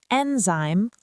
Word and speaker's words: enzyme: It's pronounced enzyme, where zyme sounds like zyme.